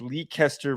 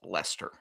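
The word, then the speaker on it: Leicester: I think I believe that actually might be pronounced Lester.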